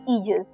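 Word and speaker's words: aegis: का वो था जस बोलने में जजस है पर स्पेलिंग की शुरुआत होती है ए ई जी आई एस इजस ए ई जी आई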